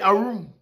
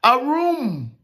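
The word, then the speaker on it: ערום: Phonetically, that's how you say arum. A room, like A room in a house? No. A room.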